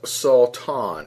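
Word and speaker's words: שָּׂטָן: And it's believed to be pronounced as Satan, S-A-W-T-A-W-N, with the definition, or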